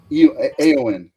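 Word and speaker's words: Éowyn: Eowyn. Actually, is how I pronounce that.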